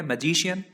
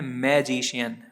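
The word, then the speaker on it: magician: दोस्तों अगला वर्ड है मैजिशियन। इसको लोग पढ़ते हैं मैजिशियन, माँ में एक ही मात्रा लगाकर पढ़ते हैं मैं, जबकि इसका सही प्रोनाउंसिएशन होता है माँ से शुरू। इसको हम पढ़ते हैं मजीशियन, और मजीशियन का मीनिंग होता है जादूगर।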